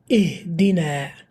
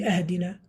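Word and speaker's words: اهدنا: So we have ihdina. All of you are familiar with this. Ihdina as-sirat al-mustaqim. Ihdina. Why don't we say ahdina? Why don't we say uhdina?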